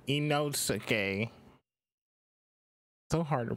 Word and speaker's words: Inosuke: I call him Initsu. It's Inosuke. So hard to pronounce these names.